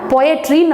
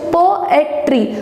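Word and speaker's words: poetry: ஸோ போம் அப்படின்னு தான் நம்ம ப்ரொனவுன்ஸ் பண்ணோம். இந்த போம் அப்படின்றதுக்கு இன்னொரு வேர்டு என்ன அப்படின்னா பொயட்ரின்னு நம்ம படிச்சிருப்போம். அதோட ஆக்சுவல் ப்ரொனவுன்சியேஷன் போஎட்ரி.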